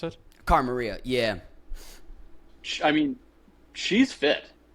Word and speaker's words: Cara Maria: Because, your partner in this scenario, Cara Marie, right? That's how you pronounce it? Cara Maria, yeah.